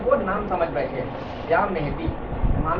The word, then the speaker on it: مہدی: یا مہدی, امام مہدی. امام صحیح کا جو تلفظ ہے مہدی ہے. ہم لوگ ہندوستانی لب و لہجے میں مہدی کہتے ہیں جو غلط نہیں ہے.